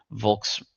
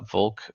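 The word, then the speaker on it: Volk: uh Vulk or I think it's pronounced pronounced folk in German it's V is F I suppose but whatever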